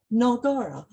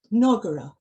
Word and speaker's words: Nagara: Nagari comes from Nagara, Nagara, 3 short syllables, a Sanskrit word meaning town or city.